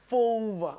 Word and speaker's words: Fulva: It's Latin. Vulpes. Fulpa. Fulva. It's not vulva. That's a rib. Fulva.